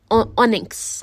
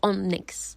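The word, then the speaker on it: onyx: on skin believe me I check the pronunciation of that and I'm still not pronouncing it right onx onx Shai is supposed to be a color that is forgot o n YX X then the moment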